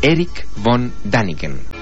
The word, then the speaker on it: Erich von Däniken: de todos los tiempos se pronuncia en tres palabras Eric Von daniken er vonen tiene 72